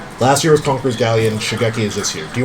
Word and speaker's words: Shigeki: You said the name wrong. What card is What it? do you think of Shibeki? No, Shigeki. Shigeki's.